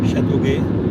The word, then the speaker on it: Chateauguay: Chateauguay.